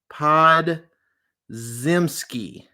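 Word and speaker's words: Podziemski: his name pods uh pod zimsky yeah that's how you say it Brandon pod zimsky had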